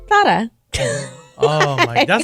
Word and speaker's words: Zara: It is actually a th sound in Spain. So I guess it's Zara. Oh my, that's like Mike Tyson saying it. Want to go to Thada, big boy?